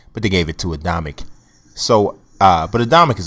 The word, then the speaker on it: Adamek: here is this is adamic or uh oamic depending on how you pronounce it I think it's adamic but so you know adamic